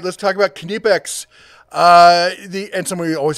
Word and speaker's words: Knipex: right let's talk about knipex uh the and somebody always has to comment it's not the K is silent k is not silent brother go and ask